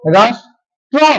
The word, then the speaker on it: রাষ্ট্র: সাথে র ফলা রয়েছে তাহলে মূর্ধন্য এর উচ্চারণটা আমার কি হবে মধ্যস এর উচ্চারণটা হবে আমার তালব্য স এর মত তাহলে দেখো হয়েছে কি রাস তারপরে ট এর র ফলাটা হলো রাস ট্র নাকি ট্র ট্র হয়েছে